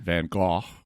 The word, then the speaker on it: van Gogh: van gogh got and i'm gonna say van gogh because that's just how i've always said it because the standard american pronunciation even in this episode